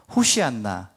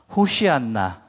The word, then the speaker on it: 호산나: 바로 우리 귀에 익숙한 호산나 말입니다 원어의 발음은 호시안나 호시안나 합니다 저를 따라서 같이 발음해 보실까요 호시안나 한번 더 호시안나네 오늘